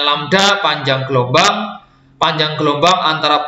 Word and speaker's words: lambda: Ini bacanya lambda, panjang gelombang.